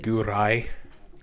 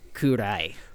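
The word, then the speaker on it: 暗い: Kurai. That's dark. What's that mean? Gurai? Kurai.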